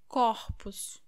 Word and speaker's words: corpos: But when it is in plural, the letter O sounds like O, O, corpus, corpus.